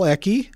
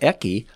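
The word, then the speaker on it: Ecke: uh the was celebrates Paul eki I think that's how he pronounced his name a e c ke e c ke Paul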